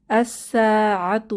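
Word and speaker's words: الساعة: অর্থ নবী এরপর আসসা এখানেও শামসী হরফ লামের উচ্চারণ হবে না আসসাতু অর্থ সময় বা কেয়ামত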